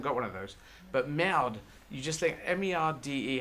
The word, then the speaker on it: merde: And then one of the wives, against the 2 husbands going, just went, merde! And I thought, oh, that's how you say it. You hit the de.